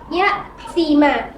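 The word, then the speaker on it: يتيما: Untuk cara membacanya, yatima. Yatima ya, tulisannya yatiman ya, tapi karena dia hukumnya mat iwat maka diganti dengan fathah. Jadi cara bacanya yatima ya.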